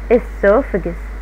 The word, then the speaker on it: esophagus: المريء وده شكله esophagus أول ثلاث حروف سهلين النطق نقول إسو نجي للحرفين بي اتش يتنطقوا ف السوف يحط عليهم اف كأني مش شايفهم السوف عشان عندي ايه السوفجس اليو ما بنطقهاش بنطقها كأنها اي شوا السوفجس ماله الاسوفجس فود موفز